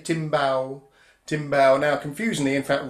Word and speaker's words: timbal: teaching me about this it's spelled t IM b al but in brazil when they speak was in portuguese they don't say timbale they'd say steamed bowel and you play it